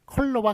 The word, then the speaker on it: 컬러: 다음에 이제 이번에 10번 컬러와 칼라가 있네요 자 요거는 이제 그 사각발음이에요 어로 그래서 컬러가 맞습니다 그 저기 칼라가 아니라 그래서 요거 색깔을 나타내는 컬러 요게 어 자가 맞아요 그러니까 그 요게 그러니까